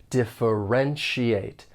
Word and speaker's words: differentiate: between foreign and domestic when pronouncing this verb there are five syllables and the stress is on that third syllable differentiate differentiate keep in mind that the ti a te at the end of the word has a shate sound so this is when the spelling and pronunciation don't really match differentiate and if you